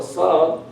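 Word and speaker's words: ص: Because if you soften the sad, it becomes sin. So when you say sad, sabr, it has to be fully pronounced.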